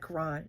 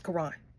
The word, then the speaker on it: Caron: Clutch Time by Caron, Butler, and Justin A. Reynolds, which I need the guy who did the voiceover. Make sure you say his name right. You said Caron. You said Caron. It's Caron.